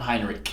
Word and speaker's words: Heinrich: of our current US senators is is it Heinrich am I pronouncing his name yeah Martin Hinrich Hinrich okay so I saw a little post